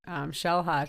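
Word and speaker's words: Xel-Há: Yeah, because all the X's are sh sounds, right?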